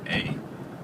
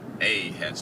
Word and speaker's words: a: pronunciation of the word A. And A has two sounds, ah and A. But in America, we always say A. But most other countries, they say ah.